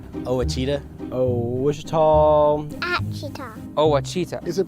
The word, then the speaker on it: Ouachita: It's Ouachita, people. It's Ouachita. Ouachita.